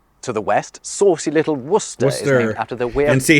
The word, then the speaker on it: Worcester: we actually have w o s t r Worcester Gora a tribe and the southern city of